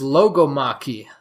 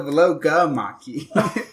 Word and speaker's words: logomachy: The next word is logomachy. Wait, logomachy. You got to get the accent on that second syllable.